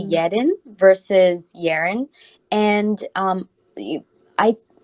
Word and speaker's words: Yerin: picked up kind of mentioned that Korean it's pronounced yetin um is there and a bit whereas like in I guess the the English language or like British English or American English people would pronounce it yearin and I'm guessing you